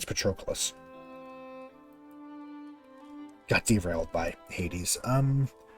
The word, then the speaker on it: Patroclus: remember trochleus patrickolis i don't i think it's patroclus got derailed by hades um what's wrong with